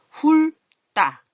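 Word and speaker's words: 훑다: 이거 훌 여기 발음이 좀 뭉쳐졌는데 우자예요. 훌따.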